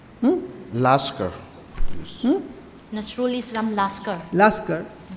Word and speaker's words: Laskar: petitioner Shri Nazrul Islam Laukar. Laskar. Nasrul Islam Laskar. Laskar. In Assamese, it's called Loskar.